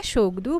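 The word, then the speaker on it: Tshogdu: देखो टी यहाँ पर साइलेंट हो जाता है, शोगडू बोलते हैं।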